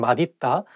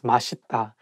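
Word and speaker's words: 맛있다: um it's okay because even some korean people sometimes just by mistake saying adita but actually the correct pronunciation is mashita so you can say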